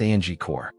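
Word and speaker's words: Angkor: Anchor, pronounced angore.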